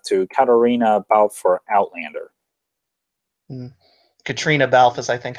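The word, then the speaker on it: Caitríona Balfe: Katrina Balfe is, I think, how you pronounce her name. Oh, yeah, Katrina Balfe.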